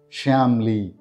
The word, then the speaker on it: Shyamli: this is how we pronounce the name shamli shamly shamly the meaning of this name is